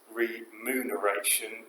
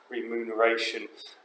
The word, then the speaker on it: remuneration: key uh term which sounds a bit weird but it is remuneration spelled like that with the m and the N there remuneration of the methods that